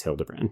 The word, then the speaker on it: Hildebrand: And it's also got, like, Brianna Hildebrand from... I think it's Hildebrand. It is Hildebrand.